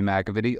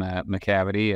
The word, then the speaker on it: McAvity: itself sure so um my name is mcavitty a lot of people mispronounced my last name mccavity uh or any derivation of that but uh um yeah